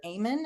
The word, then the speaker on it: Amen: There's a doctor Dr. Aean, I think that's how he says his name. It's spelled like amen.